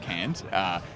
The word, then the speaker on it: KAND: It's an acronym, but it's not pronounced KAND, it's pronounced Canned, unlike how it was in the draw here on this balcony a couple of days ago.